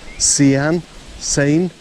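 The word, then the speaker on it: Caen: How would you pronounce this? C A E N. Can sain.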